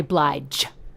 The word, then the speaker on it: Blige: Blige. Hard G. Well, no, it's not a hard G. It's a medium G. It's not the softest, but it's not the hardest.